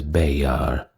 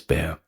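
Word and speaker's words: Béxar: aware that there are several different pronunciations for that word bear being b e x a r I believe the Spanish pronounce it as bear or they are something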